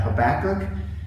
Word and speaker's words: Habakkuk: week we're looking at Habakkuk and that is how you pronounce it by the way the child that was Habakkuk and maybe a few other things but Habakkuk and we're looking at